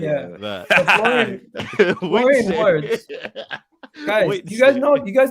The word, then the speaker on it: Wirtz: It's Forlan Witsu. Witsu, right? One second. Is it Florian WIRTZ? Yeah, WIRTZ. I thought it was WIRTZ. Yeah, Florian WIRTZ. WIRTZ. Yeah, that's it. Yeah. WIRTZ.